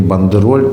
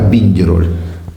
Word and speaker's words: бандероль: Надо правильно говорить не бандероль, а “биндероль”. “Биндероль”? Да, ну вы же говорите “биндеровцы”.